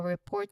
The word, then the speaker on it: report: need to make a report to the police or another authority. Basically, an official complaint. That's how we contextualize this word to this emergencies vocabulary. For the pronunciation, you stress on port.